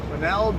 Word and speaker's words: Quesnel: Quesnel downtown. You'll pronounce it right if you just pretend the S isn't there.